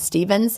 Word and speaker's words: Stephens: is spelled, like gin and tonic, and Stevens has a PH.